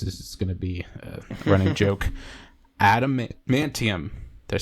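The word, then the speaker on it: adamantium: going to this is going to be running Adam mantium did I say it right yes Adam mantium how he got the claws and everything U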